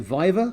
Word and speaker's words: viva: got your PhD you passed you how you pronounce it vive er Viva right yeah yeah yeah so you like that